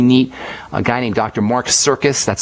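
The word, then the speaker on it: Sircus: Mark Circus. That's spelled S as in Sam, I-R-C-U-S, and he writes a lot about using bicarbonate for the pancreas.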